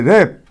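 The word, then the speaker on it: wrap: हाँ, देखिए यहाँ सिमिलरली देखिए रैप, डब्लू साइलेंट है जबकि डब्लू है इसमें, लेकिन उसके बाद आर आया है, इसलिए नियमतः W साइलेंट हो जाता है। ऊपर बताया ना कि W के बाद R आता है, तो W को हम क्या करते हैं, प्रोनाउंस नहीं करते।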